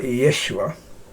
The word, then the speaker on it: Yeshua: would say yeshua because if you pronounce it more accurately from the jewish pronunciation then it would be more like yeshua so if i was